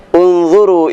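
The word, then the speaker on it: انْظُرُوا: Unzuru ila sama, huruf ketiganya adalah huruf dha. Dha dibaca dhammah, maka u dibacanya unzuru.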